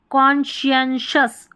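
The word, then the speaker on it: conscientious: और यहाँ पर लास्ट वाली स्पेलिंग में देखें कॉन्शियंशस, कॉन्शियंशस ऐसे है उच्चारण, यहाँ पर दे रखा है, थोड़ी कठिन है स्पेलिंग्स तो एक दो बार आप प्रोनाउंस कर लें, ठीक है। यहाँ पर एस सी को हम श पढ़ रहे हैं, कॉम्बिनेशन है एक तरीके से।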